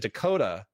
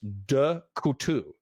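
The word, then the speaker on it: Decouteau: They they they pronounced it Dakota. Uh but his real name was Dutu.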